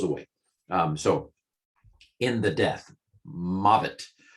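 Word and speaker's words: מות: Some of you wonder why I pronounce the vavs as v. Probably in the original Hebrew, it was more wa. I don't know. I learned it. It's the way I learned it, a more modern pronunciation.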